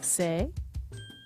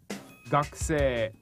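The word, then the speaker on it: 学生: Is it sei? Close, it's gakusei.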